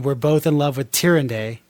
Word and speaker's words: Tyrande: Malfurion and Illidan were both in love with Tyrande. Tyrande?